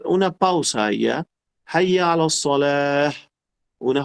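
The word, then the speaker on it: صلاة: Cuando una palabra termina con una ta marbuta o ta cerrada se llama, si no tiene acento, debemos pronunciarla como una J.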